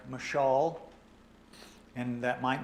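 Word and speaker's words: מָשָׁל: So, the word proverb is translated from a Hebrew word called, if I pronounce it correct, mashal.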